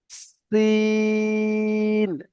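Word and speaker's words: سين: এটা সিন, সিন।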